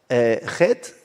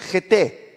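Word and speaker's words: חטא: Mas het, se escreve het, tet e alef mudo. E por isso alguns veem esse alef lá e dizem heté. Mas não existe essa palavra. A palavra é het.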